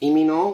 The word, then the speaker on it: Lee Min-ho: So, as I was saying, his name is Lee Min-ho, which is, that's how we pronounce it, not Lee.